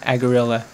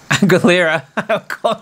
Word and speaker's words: Aguilera: and this must be a song that was originally sung by christina aguerilla aguilera a gorilla i always say her name wrong sorry christina i